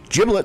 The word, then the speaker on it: giblet: the experts quote unquote at Food Network Magazine giblet says pronounced were they soft G like G genius